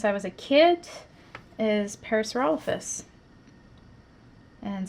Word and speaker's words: Parasaurolophus: was a kid is parasaurolophus and some people say it parasaurolophus um but yeah here here we generally say parasaurolophus that's just how we stress the syllables next question amber witt